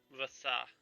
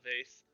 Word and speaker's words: Vasa: Vasa. It's a Vasa, not a vase. It's pronounced Vasa.